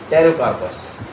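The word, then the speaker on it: Pterocarpus: वो आ रहा है टेरोकार्पस। अब इसको मैंने पी से क्यों लिखा? क्योंकि पी यहां पे साइलेंट है। लेकिन आप इसको याद करेंगे तो पूछ सकते हो पटेरोकार्पस।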